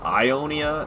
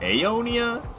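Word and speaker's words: Aeonia: Is it apparently it's pronounced Ionia, not Aonia? It's spelled with an A.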